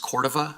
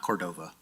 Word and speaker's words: Cordova: And just so you guys know, it's actually pronounced Cordova, not Cordova. But that's okay, a lot of people do that.